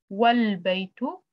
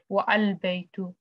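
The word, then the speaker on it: والبيت: alif is dropped and the phrase is pronounced wal-baytu, not wa-al-baytu. So you can't say wa-al-baytu. It's wrong. You should say wal-baytu.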